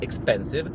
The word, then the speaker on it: expensive: wyostrzonym słuchem wiedzą że jest lekka różnica w wymowie między expensyw ekspansyw ekspansim ekspansim Słuchajcie zanim wam powiem o